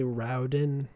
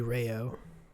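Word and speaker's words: Raoden: the book The pronun if there are two vowels next to each other you pronounce them independently of each other uh when breeding specifically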